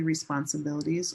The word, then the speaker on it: responsibilities: When it's the noun like I have many responsibilities or these are your responsibilities, it's silver pin responsibil. Responsibilities. This bill is the longest syllable.